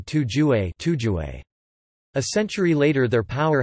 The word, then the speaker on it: Tujue: The first recorded use of Turk as a political name appears as a 6th century reference to the word pronounced in modern Chinese as Tuju.